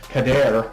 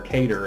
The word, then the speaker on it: Kader: I also told you guys that Kader, I said her name wrong, I called her Cater, and I guess it depends on how you say stuff.